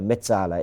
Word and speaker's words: mezzala: you call it a mezzala, right? Do the Italian pronunciation, a mezzala.